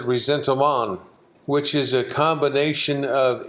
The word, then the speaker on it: ressentiment: The word looks like it's resentment. The French pronounce it ressentiment, which is a combination of envy and rage, covetousness plus anger and envy and rage.